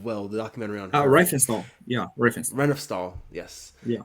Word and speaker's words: Riefenstahl: I don't know how to pronounce her name. The director of Triumph of Will, the documentary on her. Riefenstahl.